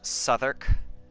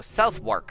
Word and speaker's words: Southwark: Let me just point out, this is pronounced Southwark. Because English. Whitechapel. You knew. Okay. I gotta. Because I know folks whose first language is English that look at that and go, Southwark.